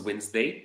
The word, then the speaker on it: Wednesday: So word number one was Wednesday. There is a D that is silent, but we still write it.